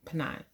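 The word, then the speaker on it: Peninnah: a wife named panina now could be seen that wrong too her name is p-n-i-n-n-a-h but that's what i say pennine so he was married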